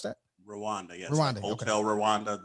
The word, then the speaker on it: Rwanda: Is that how you pronounce that? Rwanda, yes.